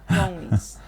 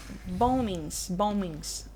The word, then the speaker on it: bombings: Bombings. The second B is silent. Bombings.